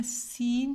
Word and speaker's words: sun: pronounce करने में दोनों सन ही बोले जाते हैं, लेकिन जो सूरज है